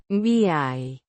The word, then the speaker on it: viaje: Pronounced Viaje. with the stress on the second syllable, the J. sounding like the H in house, but with a slight friction.